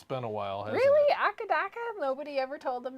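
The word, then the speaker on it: AC/DC: talking about AC DC in Australia it's pronounced akadaka a hakadaka akadaka YouTuber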